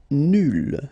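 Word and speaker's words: nulle: Nul will become nul. So phonetically it's the same, but then you double the L and you put at the end.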